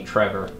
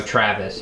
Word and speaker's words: Travis: faith you're in here the lady at the post office yesterday called me Trevor there's no Travis Travis Travis Travis well in this